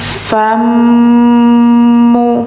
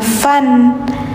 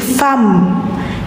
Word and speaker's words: fammu: Ad a fammu. Nah, bacanya jangan fan karena setelahnya ada mim. Jadi, fam. dimasukkan suara N-nya ke mim. Jadi, suara N-nya kayak enggak ada.